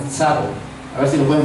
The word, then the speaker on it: Tsavo: de Tsavo, se llama, es con T, S-A-V-O, Tsavo. A ver si lo pueden pronunciar, Tsavo.